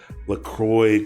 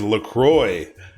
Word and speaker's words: LaCroix: It is LaCroix. I'm pretty sure that's how it's pronounced. I think it's Francais LaCroix.